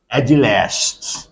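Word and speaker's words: agelast: Agile last. Agilast. Let me write down here the word. A g e l a s t. Agil.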